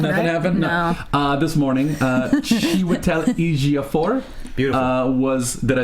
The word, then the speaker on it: Chiwetel Ejiofor: This morning, Chiwetel Ejiofor.